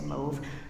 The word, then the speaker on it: mauve: You have mauve is developed. Or some people would pronounce it mauve. I say mauve.